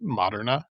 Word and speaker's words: Moderna: Have you guys ever wanted to pronounce Moderna in the Italian way and call it Moderna? Moderna. Yeah. Italian would be like Moderna.